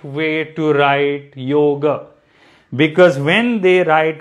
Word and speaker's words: yoga: it is yoga so there is an a sound at the end but it is not an extended a so yoga now i